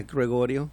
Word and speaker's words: Gregorio: I did Gregorio correctly. Did I pronounce that right? Yes. Yeah, Gregorio.